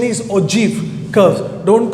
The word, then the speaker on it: ogive: The pronunciation is ogive curves. Don't call it as ogive curves. That is not the correct pronunciation. The pronunciation is O-J-E-E-V, right? But the spelling is O-G-I-V-E, and you read that as ogive curves.